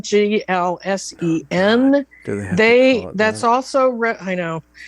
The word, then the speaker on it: GLSEN: um there's something called glsen g-l-s-e-n they that's also i know it's not glsen it's glsen they that's linked on